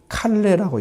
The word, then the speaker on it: 갈레: 갈레는 칼레라고 읽습니다.